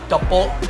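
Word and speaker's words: 떡볶이: All right, so I'm gonna get the spicy pork kimbap and one very, very spicy tteokbokki.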